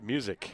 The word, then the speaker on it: Muzic: His name is pronounced Music. This fella's name is pronounced Music, and that one is in the dirt, blocked by Joachim.